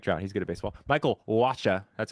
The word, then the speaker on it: Michael Wacha: Michael Wacha.